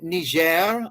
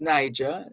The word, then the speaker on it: Niger: espania Independence Day in Niger otherwise known as Niger Niger is the front French pronunciation mata's